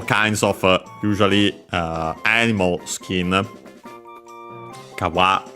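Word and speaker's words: 皮: Kawa, accent on the last mora, nowadays kawa, which I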